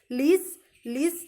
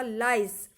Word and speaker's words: lice: जैसे हम स्ट्रॉ डाल करके कोल्ड ड्रिंक को सक करते हैं, ठीक उसी तरह से लीस जो होते हैं, लीस को LICE लीस लिखा है, लेकिन इसका प्रोनाउंसिएशन होगा लाइस.